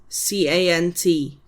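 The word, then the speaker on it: cant: So that's c a n t can't.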